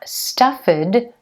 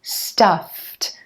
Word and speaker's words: stuffed: we have the IDI ending but it's not stuffand it's stuffed when you have a voiceless consonant like the F sound meaning there's no vocal cord vibration that edie ending is going to be pronounced like a t stuffed stuffed I'm stuffed